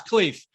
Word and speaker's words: Khleif: purposefully dodged pronouncing yourself my last name is cliff my last name exactly